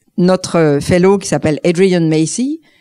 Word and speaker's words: Macey: Ce soir, j'ai la chance de vous présenter notre fellow qui s'appelle Adrian Macy. Il a dit qu'en français, on peut dire Adrien Massé.